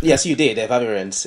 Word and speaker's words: Efavirenz: Did I even pronounce it right? Did I get it right? Yes, you did. Efavirenz.